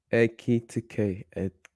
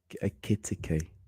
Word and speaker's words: Ekitike: Etikke or Etikke. Sorry if I mispronounce his name. How do you say it? Ekitike. Ekitike.